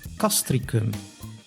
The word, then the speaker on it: Castricum: C, the letter C, can be pronounced as an S, like in civil, which means civil, or as a K, like in castricum, which is the name of a village.